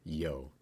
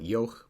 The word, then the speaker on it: Yough: used to call it yo but I noticed that it survived for long enough to lose the final consonant in some dialects apparently so it's easier to pronounce it yo so I'm going to